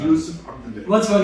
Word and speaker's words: Yusuf: My name is, in Somali, you pronounce my name Yusuf.